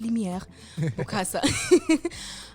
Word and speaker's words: Lumiere Bukasa: Yeah, my name is Lumiere Bukasa. Depending on where you are from, you will pronounce it differently. Yes. So here's Lumiere, but it's Lumiere Bukasa.